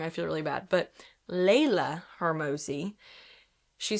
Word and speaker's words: Leila: Laya. Laya. I've said her name wrong for like six years.